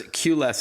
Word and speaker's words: QLess: For our listeners, QLess is spelled the letter Q, L-E-S-S, but a cute play on words, of course, as you're all about reducing the need for a queue or a lineup, as we say here in North America.